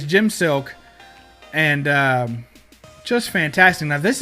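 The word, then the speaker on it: Silke: got Jim silk interior I think it's pronounced silk it's s I lke so if you're ever looking it up but I call it silk I guess could be silky I don't know but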